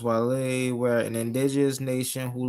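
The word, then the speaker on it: Guale: It's pronounced Wale, where an indigenous nation who lived among the Georgia coast and sea islands from Savannah River down to St.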